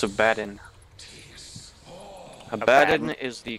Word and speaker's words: Abaddon: Abaddon is the correct pronunciation.